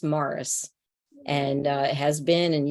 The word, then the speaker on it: Maurice: name ah well uh it's spelled of course Maurice but it's pronounced Morris okay you're not I'm